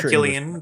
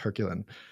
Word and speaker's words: Herculine: Uh is it is it Herculine or Hercuan? Is it the French? Hercuan, but I you know if you want to go French with it, you should.